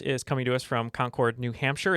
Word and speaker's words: Concord: Our first guest is coming to us from Concord, New Hampshire.